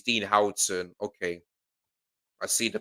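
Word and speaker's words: Huijsen: Dean Hson. Oh, is that how you pronounce it?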